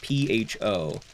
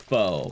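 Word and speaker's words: phở: know what pho is, it's spelled P-H-O. It looks like pho, but it's pronounced pho.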